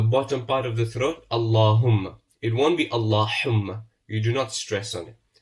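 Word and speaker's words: اللهم: We're not putting a shadda on it. We're overstretching the long vowel. Sometimes we're not pronouncing the Lam of Allah with the full mouth. So remember, it is Allahumma. Allahumma.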